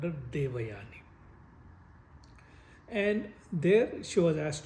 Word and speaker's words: Devayani: You make it sound like Divani.